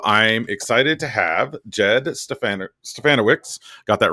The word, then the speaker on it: Stefanowicz: Jed Stefanowicz rhymes with Bananowitz, so you got it.